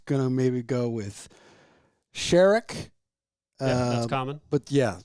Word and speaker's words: Sheryak: Sheryak. It's Sheryak. Yeah. Okay. Cher, the singer. Yes. The letter E and yak. Okay.